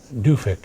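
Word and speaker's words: Duffek: A-N, I think, and Duffick is how she pronounces it, Karen Duffick.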